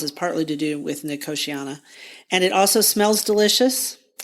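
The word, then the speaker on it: Nicotiana: here and there um I'm saying it's the year of nikiana and some people pronounce it nicotina I like nikiana so I'm just going to pronounce it that way and I think it's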